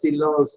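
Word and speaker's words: silence: ET ஏங்கிற உச்சரிப்பு, அண்ட் அர்த்தம். ல சிலாஸ் அப்படின்னா த சைலன்ஸ், ல சிலாஸ்.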